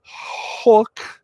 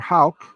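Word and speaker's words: Houck: Winning pitcher, Hook, H-O-U-C-K, Hook, or Hauk, depends on your pronunciation.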